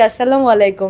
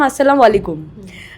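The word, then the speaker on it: السلام عليكم: আমি যখন ট্যাগলাইনটি দিয়েছি আসসালামু আলাইকুম আমি ওটা আগে উচ্চারণ করতে পারতাম না এখন শিখেছি প্রপার আগে আমি বলতাম আসসালামু আলাইকুম আমাকে একজন ফ্যান বলেছিলেন ওটা আসসালামু আলাইকুম তো ওটা আমি এখন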